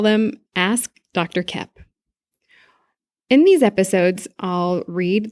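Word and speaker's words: Koepp: Kep. And Kep is spelled K-O-E-P-P, like two peas in a pod.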